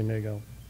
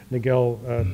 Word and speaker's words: Nagell: I sometimes say Nagell and sometimes I say Nagell because he actually pronounced it both ways, but it has 2 L's on the end of it.